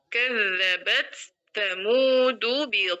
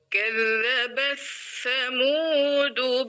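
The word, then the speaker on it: كذبت ثمود: Jadi membacanya gimana? Kadzabatamudu bitwiha kadzabat. Jadi suara taknya hilang ya.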